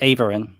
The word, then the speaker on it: Aeveryn: your last name the right way will you pronounce it oh it's just Ain Ain okay that's what I was gonna say